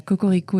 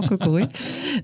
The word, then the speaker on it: Kokoroe: bien OK tu vois et parfois j'ai le droit à cocorico et je suis non non cocoré écoute on voulait pas